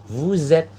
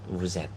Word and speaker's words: vous êtes: Jika ada di akhir sebuah kata, teman-teman, itu ada huruf S, lalu di kata selanjutnya atau kata sebelah atau ada huruf sebelahnya nih yang dempet ini, dia hurufnya A, I, U, E, O. Nah, biasanya S itu bacanya Z.